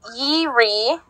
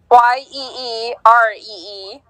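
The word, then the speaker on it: Jiří: I think the first name is pronounced Yiri. Sounds right. Yeeree.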